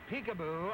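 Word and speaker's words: Picabo: point okay you wonder how they got peekaboo out of a name that's spelled p i c a b o but her father supposedly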